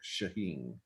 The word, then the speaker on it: Shaheen: So he was the first one to welcome Dick Shaheen. That's how it's pronounced.